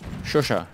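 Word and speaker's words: Chauchat: Shosha, yeah.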